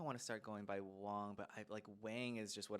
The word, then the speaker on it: Wang: Wang. And I was kind of going through my own journey of like, I think I want to start going by Wang, but Wang is just what I've known my whole life.